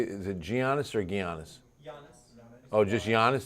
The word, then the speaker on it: Giannis: Giannis. Oh, just Giannis? The G is silent.